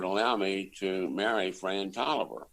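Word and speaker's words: Taliaferro: coach and would allow me to marry fran toliver spelled like virginians do uh t-a-l-i-a uh not pronounced dot tiger pharaoh but uh it's oliver i think the north carolinians pronounce it talia pharaoh though don't they if you meet us um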